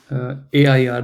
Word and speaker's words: er: Just think, how do you say AIR, the English air, right? Just that's how you say air. Okay, er vergisst. Or just say air. Don't say the R part. Er vergisst. Air.